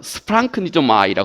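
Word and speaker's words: σπλαγχνίζομαι: 이 말의 그 그리스 말은, 이 말의 원래 그 성서 원어 그리스 말은 스프랑크니조마이라고 하는 말입니다.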